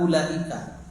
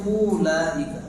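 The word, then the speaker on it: أولئك: Secara tajwid bacanya ulaika. Enggak, tetapi ulaika. dibaca pendek.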